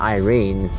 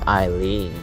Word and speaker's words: Eileen: with by rings and no it's not Irene it's Eileen why didn't you say it rhymes with Irene they got lots of